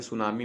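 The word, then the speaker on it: tsunami: ऐसे सुनामी में होता है टी साइलेंट रहता है, SUNAMI होता है।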